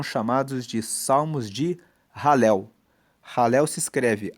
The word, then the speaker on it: Halel: Halel se escreve H a L e L.